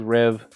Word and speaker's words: Reve: look at the pronunciations, the kind of the Americanized way to say it is Rev. There is a French way to say it with a little twang, if you could say the R like that, but not me.